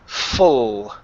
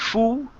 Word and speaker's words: full: All right, let's go to the word full. Use your tongue for that L. Full instead of foo.